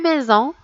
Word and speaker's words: maison: Une maison. La lettre S ici, on l'a prononcée Z.